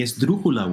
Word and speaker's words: esdrújula: Esdrújula, the word itself. Third from last, it needs a written accent.